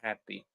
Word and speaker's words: happy: Happy has two syllables. Happy, happy, right? But they don't have the same value because when we pronounce them, you will notice that ha is louder, it's longer, and also it has more energy than P.